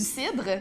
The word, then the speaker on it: CID: les prononcer. Ça s'appelle juste CID.